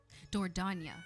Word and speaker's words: Dordogne: Dordogne.